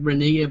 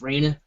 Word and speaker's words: Raina: Raina, and guys, if you're wondering, that's how you say her name. I know it looks like Renea, but it's Raina Treadwell.